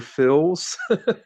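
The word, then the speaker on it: Phylzzz: wouldn't have found that so it sounds like Mr Phil's okay yeah yeah right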